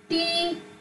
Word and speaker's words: talk: Not to say this, not to pronounce this L. W-A-L-K, walk. T-A-L-K, talk.